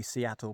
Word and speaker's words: Suiattle: e that is it it might be Seattle pass but spelled weirdly it might be suitable pass